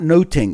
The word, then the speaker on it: nothing: if you look at the title of much ado about nothing that's actually much ado about noting is the way that you would say